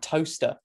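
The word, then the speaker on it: Towcester: right just outside Silverstone you've got toaster but it's spelled tester and then of course you got Lester and all that too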